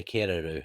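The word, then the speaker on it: Kererū: So, yeah, Kariru. yeah, Keruru. It's a little bit hard to pronounce, but New Zealand wood pigeon is like the English name for it.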